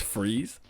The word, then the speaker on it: Fries: Victor Fries, I know it's Freeze, but it's spelt as Fries, and every time I see it, I can't help but make this joke.